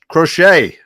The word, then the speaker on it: Crochet: this game we got scooo and C crot crochet crochet I had to be corrected before we went live I was mispronouncing that name so uh what do you